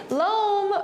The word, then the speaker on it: loam: very nice thank you loam rhymes with home home loam they have the same sound at the end yeah so it's kind of a funny word but it rhymes with home so that's how you can help remember the sound of it so we are now